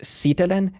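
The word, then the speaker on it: sitelen: Also stress is word initial always. So this word is always pronounced sitellin and this word is always pronounced solei not sitellin or soi.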